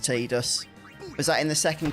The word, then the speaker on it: Tidus: there we go oh you should always call him tidus until square apparently said it's pronounced tdus was that in the